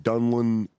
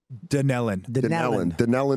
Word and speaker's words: Dunellen: Then you got the Dunlin Theater in Dunlin. How do you say that? How do you say that? Dunellen, New Jersey.